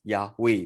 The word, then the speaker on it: Yahweh: h right so yo hey va hey that's pronounced as yahweh because they don't have coincidence they don't have